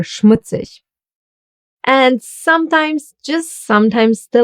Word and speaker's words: Schmutzig: The STH will be pronounced as the sound Sh. Like for example in Schnell, or Schmutzig.